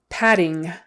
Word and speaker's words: padding: States picture picture picture padding padding two D's it's just a D sound in the middle padding again that g